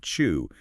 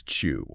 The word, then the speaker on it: Chu: a kid because his last name Chu could be like mispronounced as chew you know like the